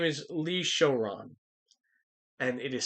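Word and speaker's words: Showron: card captor was involved his name is lee shoron and it is spelled s-h-o-w-r-o-n it does not look japanese in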